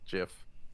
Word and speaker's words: GIF: as a troll moved they said that no it's it's pronounced jiff now just came out in